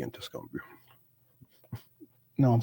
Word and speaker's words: Tuscaloosa: Was it Tuscaloosa? Tuscaloosa.